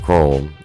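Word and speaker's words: Corum: got to share you no reps with Blake Chrome that's how you say his name so he's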